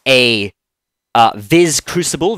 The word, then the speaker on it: vis: it with a a zed or z sound depending on whether you're from Britain or America um and so viz